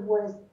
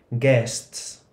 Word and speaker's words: guests: Guests. Ramón también lo había dicho antes con U y no se dice West, se dice guests, que quiere decir clientes o invitados.